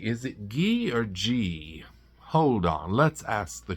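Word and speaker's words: Ghee: Is it Gee or G? Hold on. Let's ask the computer. It's pronounced G as in G E, but spelled G H E E.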